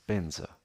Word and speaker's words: vajra: there is the word vajra one of the ways of pronouncing it the Sanskrit word in Tibetan is benza.